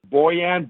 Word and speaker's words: Bojan: Bojan Boskovic. The J is pronounced as a Y.